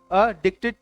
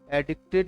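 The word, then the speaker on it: addicted: चलिए, अडिक्टेड to correct pronunciation is अडिक्टेड। अडिक्टेड 50 bar practice करनी है, एडिक्टेड नहीं बोलना है, अडिक्टेड टू।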